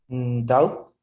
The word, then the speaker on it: doubt: pay off your debt doubt uhuh in the word doubt the letter or the consonant T doesn't sound it's a silent consonant okay silent consonant it